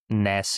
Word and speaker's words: Nys: so like my name is always like Ness s in Dutch. Um I don't even know how you how would you pronounce it in like English?